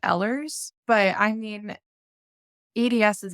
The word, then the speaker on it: Ehlers: a million different way I personally pronounce it ehlers but I mean EDS